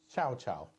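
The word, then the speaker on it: 小乔: and Xiao Chao.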